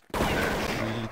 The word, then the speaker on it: Лилит: В чате Паша нам пишет, что правильно да, произносить Лилит. Именно так, как я сказал, да, Лилит.